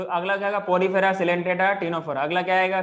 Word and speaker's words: Ctenophora: हाँ, अगला लिखना है टीनोफोरा। Ctenophora. टीनोफोरा का स्पेलिंग क्या होता है?